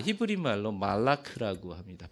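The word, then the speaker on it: מלאך: 네, 히브리 말로 말라크라고 합니다.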